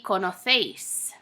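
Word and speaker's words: conocéis: kono seis in Spain so in Spain we have what's called distinction when you have AC e or C I or the letter Z you're going to pronounce it kind of like a th sound so kono seis how we would say it in Latin America in Spain would be kana phase so vosotros kono face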